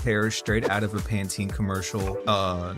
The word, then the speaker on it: Pantene: Straight out of a Pantene commercial. Is that how you Yankee Doodles pronounce Panten?